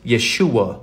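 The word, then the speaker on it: ישוע: of God or the the pentagrammaton which is pronounced Yeshua in Hebrew it's y h s h wh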